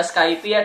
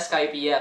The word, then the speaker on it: Skypiea: Ada yang baca Skypiea, ada yang bacanya Skypiea. Kalau aku sih lebih enak Skypiea.